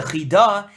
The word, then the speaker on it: Chida: The Chidah, if you write in English, it looks like Chida, but it's not how you say it.